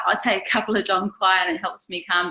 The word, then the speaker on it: Dong Quai: Dong Quai means you don't quai no more. That's how I remember how to say it.